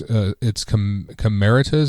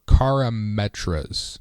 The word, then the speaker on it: Karametra: Yeah, I think it's Chimerita's or Chimetra's Blessing. Is that the name of it? Yes, it's a new card. It is a Chimeritra's Blessing. I was pronouncing it incorrectly. Yeah, or Karametra's.